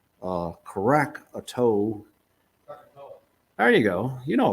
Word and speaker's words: Krakatoa: um in uh in 1883 and i can't pronounce it but it's uh crack a toe there you go you know about it okay all right krakatoa krakatoa engine indonesia in uh 1883.